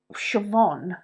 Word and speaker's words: Siobhan: next to each other so like Siobhan the name doesn't have a v in it but b